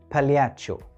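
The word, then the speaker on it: pagliaccio: بالياتشو. بالياتشو هي كلمة إيطالية ومعناها مهرج، وبتتكتب كده ونطقها بالياتشو.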